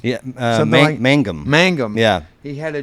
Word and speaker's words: Mangum: Jeff uh how do you say his name Magnum yeah Mangum Mangum yeah he had a dream about Anne